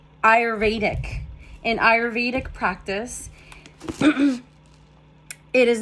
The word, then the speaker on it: Ayurvedic: still feel a little congested tiny bit Ayurvedic Ayurvedic in Ayurvedic practice It is known as Merchie